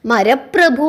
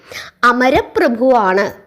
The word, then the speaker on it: അമരപ്രഭു: അതിൽ ഒരു വിദ്വാനായ നമ്പൂതിരി പറയുകയാണ്, എന്താ വിധി ഇങ്ങനെയൊക്കെ പറയുന്നത്, മരപ്രഭു അല്ല, അങ്ങനെയല്ല അത് ഉച്ചരിക്കേണ്ടത്, ഉച്ചാരണം തെറ്റിപ്പോയി, അമരപ്രഭുവാണ് എന്ന് പറയുന്നു. പത്മനാഭോ അമരപ്രഭു എന്നാണ് പറയേണ്ടത്, അല്ലാതെ പത്മനാഭോ മരപ്രഭു എന്നല്ല പറയേണ്ടത് എന്ന് പറഞ്ഞു കൊടുക്കുന്നു.